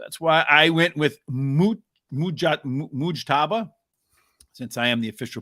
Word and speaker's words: Mujtaba: So that's why I went with Mujtaba, since I am the official pronunciator of the show.